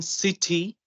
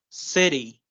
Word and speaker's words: city: have, instead of saying city, we're going to Uh-huh. say as city, Right. city.